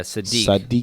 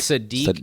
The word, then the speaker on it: Sodiq: Yeah, Sadiq. It's Sadiq Youssef.